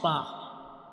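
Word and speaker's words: ب: Now let me show you the origin of bar. So can you see this is the inner view of mouth. And when we pronounce ba, we touch the inner parts of both of lips.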